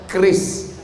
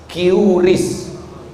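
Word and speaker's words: QRIS: Tolong buatkan keris. Curis. Cara bacanya keris.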